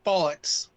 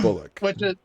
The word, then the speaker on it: bollocks: so much and secondly it's pronounced bollocks i said bullock bollocks it bollocks it has to sound like it sounds like you're putting an x at the end oh the x part